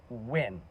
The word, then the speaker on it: Nguyen: But I am under the impression it's Win, right?